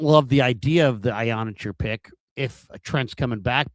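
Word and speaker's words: Iheanachor: I saw Matt Mayoka with Field Yates, and he was discussing, Caleb Lomu versus Max Ionacher. And it's Ionacher. That's how it's pronounced.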